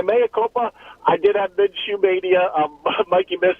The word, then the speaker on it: Minshew: My mea culpa, I did have Minshew mania. Mikey Miss actually said I was mispronouncing. I was adding the syllable Minshew. That was wrong.